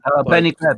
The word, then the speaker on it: Benny Greb: Benny Greb, is that how you say his name? Benny Greb, yeah, he's great.